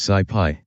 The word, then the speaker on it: SciPy: two sub libraries scipy and sklearn sigh pi pronounced sigh pi is a python-based ecosystem of open source software